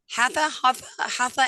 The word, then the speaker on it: Hatha: But I was reading before, I just don't laugh at me the way I pronounce it, but is it Hatha and Yin?